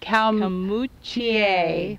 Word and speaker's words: Calmoutier: Genevieve's Church, and this is Calmoutier, or pronounced Calmoutier, we believe. In French.